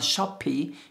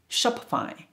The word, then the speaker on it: Shopify: instagram instagram instagram number seven shopify shopify don't pronounce shopify it's not a shoppie it's a shop shopify shopify shopify shopify shopify which is shopify number